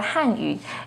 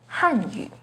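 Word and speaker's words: 汉语: The pinyin and tone for Hanyu is with the fourth falling tone on Han, Hanyu. The pinyin and tone for Hanyu has a second rising tone on Han, Hanyu.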